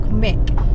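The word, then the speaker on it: Muick: We're back on the road and we are heading to Loch Morich, which is spelled M-U-I-C-K.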